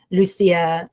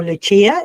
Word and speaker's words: Lucia: So, look, I have um my personal page, Instagram, and Facebook is my full name, Lucia uh um or Luchia if you like that pronunciation. Either one is fine.